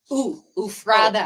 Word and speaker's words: Ephrata: Stacy Dunnigan from Ephrata, Washington. Ooh. Ephrata. Tell me. Ufrada. No, it's Ufrada Ephrata.